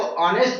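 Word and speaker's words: honest: अभी मैंने आप देखे कि यहाँ यच था तो यच का अलग उच्चारण करें तो ह होता है, लेकिन यहाँ हमको यच साइलेंट है तो ऑनेस्ट करके हमने किया है।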